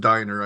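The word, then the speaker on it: Dynner: just want to say my name is actually pronounced Diner I should have told you beforehand so it's actually Diner and Ana's last name is actually chopad but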